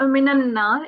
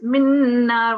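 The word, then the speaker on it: مِّن نَّارٍ: Yeah, it's not minanna, it's minna. We've got sakoon here. So you don't have a fatha. You do connect, but because this is a sakin, you combine the noon sound with the nasal sound because you've got two noons.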